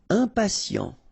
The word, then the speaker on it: impatient: Impatient, okay, remember, final T not pronounced, and then you've got this T, I and a vowel, so sien, sien. Impatient, impatient.